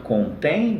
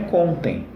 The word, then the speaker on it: contém: Ao ler contém, você já sabe que não é contem. Legal?